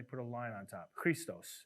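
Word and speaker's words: Χριστός: Christos is how you say it in Greek.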